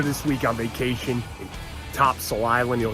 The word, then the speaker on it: Topsail: Here this week on vacation in Topsail Island. You know, it's spelled Topsail. The locals call it Topsail. No idea why. It doesn't make any sense.